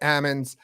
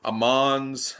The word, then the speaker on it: Ammons: have from the hurricane junior golf tour Ammons did I say your name right